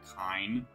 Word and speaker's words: Kain: Kain. Technically, kind. And in Japanese, they use ka eaten to spell his name. So, technically his name should be kind.